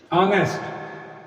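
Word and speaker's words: honest: ऐसे वर्ड्स जिनमें कुछ लेटर्स साइलेंट होते हैं, फॉर एग्जांपल ऑनेस्ट। अब आप सोच रहे होंगे कि ये तो एच से स्टार्ट है, तो यहां पर टी की साउंड द होगी, लेकिन यहां पे आप देख रहे हैं कि इस वर्ड में एच साइलेंट है।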